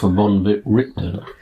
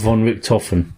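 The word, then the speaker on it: van Richten: I'm looking for Rudolf von Richten. Is it von Richten? Yeah. Not von Richthofen? No.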